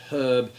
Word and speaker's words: herb: And then similarly, when we're talking about pronunciation, a lot of Americans have a tendency to drop the H on herb, whereas the British tend to keep it, but that was not always the case.